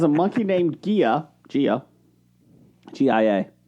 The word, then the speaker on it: Gia: G-I-A. How do you say that? Ja. Gia. Gia. Thank you.